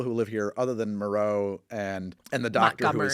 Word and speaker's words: Moreau: left there and and Maro doesn't like and actually they pronounce it morrow in this movie which I think is funny uh doesn't like having